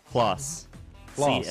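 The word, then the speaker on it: Claas: I'm not exactly sure how to pronounce his name. His name is Chris as well, you said? Klaus.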